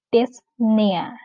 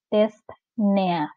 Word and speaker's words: dyspnea: Kalau pronunciation-nya sama, yaitu dyspnea.